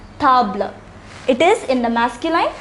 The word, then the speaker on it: table: same as stable in english but it is pronounced tabla it is in the masculine singular form therefore